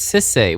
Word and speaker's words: Sisay: First Sliver, Urza, Yawgmoth, Ayula, Hogak, Bashalimons, and Sisaya. And just saying, like notably there was like Urza and the First Sliver, no big deal. Sisay. What did you say? What? It's Sisay, Weatherlight Captain.